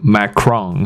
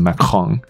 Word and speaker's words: Macron: 字看起来发音很像 Macron，可是应该是念成 Macron。